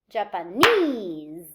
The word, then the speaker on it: Japanese: primary stress to themselves so i say japan but i say japanese so the stress moves to the the suffix